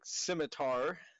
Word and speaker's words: scimitar: he absorbs his coma and death a gleaming scimitar is that the proper pronunciation yes smote that is the past tense